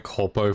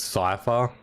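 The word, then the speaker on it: Cypher: Other than that, I can definitely notice I noticed that I was pronouncing the um name wrong for Cipher. I was calling Corpo for some reason, I guess, a few patches back, but it's Cipher.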